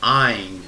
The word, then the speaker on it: ayin: that's right here that letters called an EIN and it rhymes with the word wine like a ball of wine with it spelled ayi